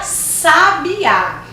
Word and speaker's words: sabiá: Na primeira, olha a pronúncia, sábia. Na segunda, sabia. E na terceira, sabiá.